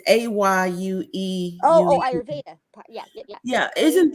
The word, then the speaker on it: Ayurveda: Ayurveda. Okay, I always have a problem pronouncing it.